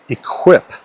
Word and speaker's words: equip: So a great example is the word equip. English borrows this word from French eipe. we pronounce it quite differently because we tend to pronounce the U's after Q's uh rather than taking